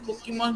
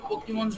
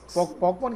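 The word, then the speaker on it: Pokémon: सर जैसे sir like like पोकेमोन सर, जैसे पोकेमोन में छोटे छोटे पोकेमोन्स होते हैं, उनको जैसे उनको क्या करते हैं, एनिमेट करवाना। हाँ वो भी पॉकमॉन कह रहे हो? पॉकमॉन, पोकेमॉन, नहीं सर, पोकेमोन, पॉपकॉर्न नहीं, पोकेमोन।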